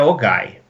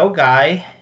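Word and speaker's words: OGAE: A gente acha que é Ogai. Mas é Ogai.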